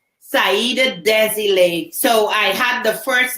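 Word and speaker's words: Saida Désilets: It's a French name. So they often have silent words or silent vowels and consonants.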